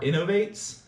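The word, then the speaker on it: Inov-8: These are Innovates, which is spelled I-N-O-V, and then the number 8.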